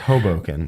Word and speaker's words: Hoboken: It's Hoboken, first off. Hoboken. No. Hoboken. I'm going to pronounce it wrong. You hit that first syllable.